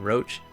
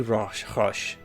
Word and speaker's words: Roche: Roach it should be Roche. Aren't we kind of in like a French pronunciated area?